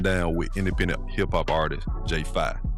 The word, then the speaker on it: J5: I'm your host, Da Fit Artist, and on today's episode 49, I'm sitting down with independent hip-hop artist J5, pronounced Fi, for an honest conversation about finding your